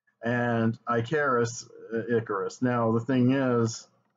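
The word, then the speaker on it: Ikaris: character's name is not icarus it's icarus now when i was a kid i pronounced that i charis because it had a k and because that's just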